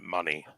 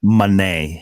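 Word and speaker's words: Moné: see or whatever Mercedes is it Monet or Monet? Monet. I thought she was pronouncing it money. Monet. Mone. But she's pronouncing it Monet. Yeah, like Tommy said. I think that's right. It is Monet. Which, whatever. It again, no, you're probably saying it right, but she's saying it as Monet.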